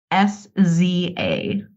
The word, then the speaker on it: SZA: SZA, SIZZA? SZA. Oh, I know who that is. Yeah. I didn't know that's how you pronounce that.